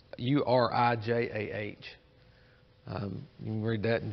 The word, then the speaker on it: Urijah: He returned to idolatry, and one of the other things I found is he killed a true prophet, and I'm pronouncing it Uriah, but it's Urijah.